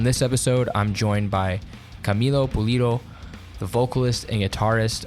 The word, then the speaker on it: Camilo: I know I got Camelio the other day so Milo's perfect. There's an extra there's the other eye is silent.